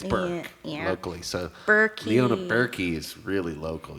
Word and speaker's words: Burkey: It was anglicized to Burkey, so that's why I have a name that rhymes with turkey.